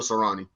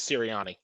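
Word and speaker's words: Sirianni: going to go to serrani talk to me so just for correction purposes because I've said it wrong too it's siriani um that's okay that's okay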